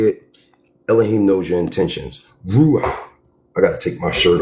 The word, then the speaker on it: Ruach: Ru like a rule. Rule like rule. Rulah. Ruah. Like the doctor tells you to open your mouth. Ruah. Ruah. You know what I mean? Ruah. That's how you say it, okay?